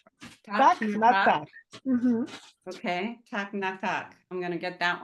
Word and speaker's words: так на так: Можна сказати так на так. Так на так. Мгм. Okay, tak na tak.